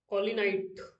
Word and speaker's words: kaolinite: फिर आता है KAO, स्पेलिंग ही बोल देता हूँ, थोड़ा सा वर्ड टफ है। KAO LINITE, KAOLINITE, कॉलिनाइट, कॉलिनाइट।